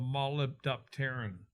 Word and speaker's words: molybdopterin: move it around, it forms a thing called molybdopterin.